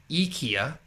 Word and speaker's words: IKEA: Which is actually, so Swedish, it's pronounced as IKEA.